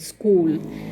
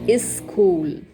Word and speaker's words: school: will become school so since you have consonant cluster at the word initial in the word school this will not be pronounced properly especially by the hindi and urdu speakers so how do they pronounce the word school they pronounce it as is cool okay so they simply add the sound e just before the consonant cluster so and okay and